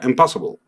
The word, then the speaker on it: impossible: Impossible. Y no hay problema porque mi énfasis está en el principio.